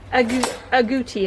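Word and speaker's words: agouti: he has a chocolate a gucci as i think how you say it a-g-o-u-t-i his name is nestle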